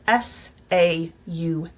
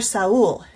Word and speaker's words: Saul: Back in the early days of my career, I taught a student whose name was spelled S-A-U-L.